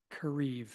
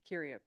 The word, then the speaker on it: Kiriev: this evening is Kareev. And okay, come and say that louder for us. What was it? Yes. And how do you say the last name? Kiriev. Kiriev. Yes.